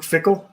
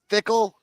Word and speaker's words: Fickell: Luke Fickell.